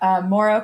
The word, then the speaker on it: Mouro: let people hear it from you first yeah moro capital is the right pronunciation all right so you just announced it